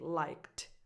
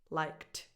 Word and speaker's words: liked: So you just naturally transition into a T sound more than a D, because liked, it's an impossible transition, so you say liked, liked.